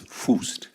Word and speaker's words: Fuest: Se escribe con UE, que normalmente sería U, pero no se pronuncia así para los que no saben, es Fuest, como con acento en la U, y se pronuncia bien.